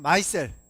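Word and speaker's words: micelle: 자, 그래서 이러한 집합 구조체를 뭐라고 부르냐면 마이셀, 뭐 미셀이라고도 교과서에서 하는데 보통 영어 발음 맞는 건 마이셀이다 하는 겁니다.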